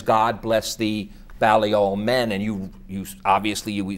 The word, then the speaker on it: Balliol: Is that how you pronounce Balliol. it? Balliol, yeah. from Oxford.